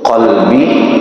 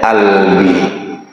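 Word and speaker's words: قلبي: Ada yang membaca huruf qf malah dibaca hamzah. Sebagaimana orang Mesir ya, orang Mesir tu qalbi. Mereka bacanya albi. Qfnya jadi hamzah. A albi. Seharusnya qalbi albi.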